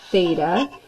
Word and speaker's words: theta: here and the angle that we're referencing is Theta so say theta this is how you pronounce this guy right here that's a Greek